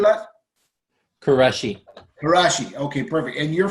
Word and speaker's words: Quraishi: pronouncing that? Quraishi.